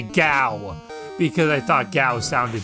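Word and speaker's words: Gau: GA sounded funny but I still thought the name was pronounced guou as I got older though I kind of put a bit more thought into it thought into the story and the character in particular and it occurred it just occurred to me that GW just made more sense for the pronunciation of his name because it's probably not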